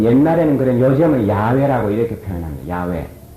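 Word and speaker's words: 야훼: 하나님 이름 엘로힘 여기 나오는 하나님은 여호와이 여호와라는 발음은 옛날에는 그런 요즘은 야외라고 이렇게 표현합니다 야외 왜 이렇게 발음이 다 달라졌냐고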